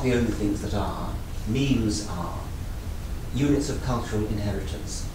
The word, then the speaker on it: memes: Memes, which is the pronunciation I favor, are units of cultural inheritance.